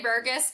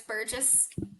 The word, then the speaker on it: Burgess: you got it right A lot of people say burgus but it's Burgess I love that yes